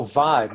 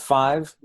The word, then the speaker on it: Vive: Oh, Vive, not five.